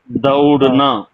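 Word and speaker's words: दौड़ना: தவடுனா தவடுனா இப்ப மரக்கடையிலல்லாம் மரக்கடையிலல்லாம் வந்து பாத்தீங்கன்னா மரத்தை அறுத்ததுக்கு அப்புறம் தூள் இருக்கும் தவிடு இல்லன்னா நெல்லு நெல்லு குத்தும்போது சொல்லுவாங்க தவிடு உம்மி இப்படில்லாம் சொல்லுவாங்க பாத்தீங்களா அந்த அந்த உச்சரிப்புதான் கொடுக்கணும் தவடுனா ஓடுடான்னு சொல்றதுக்கு தவடோ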